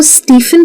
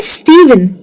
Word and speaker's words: Stephen: क्या आप इसको स्टीफन कहते हैं? अगर हाँ, तो ये प्रोनाउंसिएशन गलत है। ये लिखा जरूर PH है, लेकिन इसे कहा जाता है स्टीवन। तो ये जो PH है, ये भी V का साउंड ले लेता है।